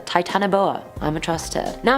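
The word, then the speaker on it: Titanoboa: the Titan booa now there was so many pronunciations to this one I was like what do I choose but then Charlotte over on iO it said it was like that so I'm a trust her titanboa I'm a trust her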